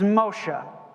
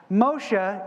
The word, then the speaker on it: Moshe: name in Hebrew is Moshe okay Moshe time to come in for dinner okay not Moses that's Moshe is the Hebrew pronunciation of the name it is an inflection